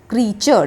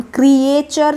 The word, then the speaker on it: creature: लगा देने से plural क्रीचर so this is the correct word a का जो साउंड होता है वो साइलेंट होता है क्रिचर्स में हम क्रिएचर नहीं बोलते क्रीचर बोलते हैं सेकंड इज स्क्विरल एस